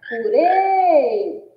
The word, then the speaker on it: purê: A gente já percebe também que é uma oxítona, que é a sílaba tônica, que é a sílaba rê, e que pelo som fechado da letra E vai receber o acento circunflexo.